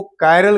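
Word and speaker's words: chiral: सी एच आई आर एल। ध्यान रखिएगा। उसका इसका उच्चारण किया जाता है। कायरल क्या पढ़ते हैं?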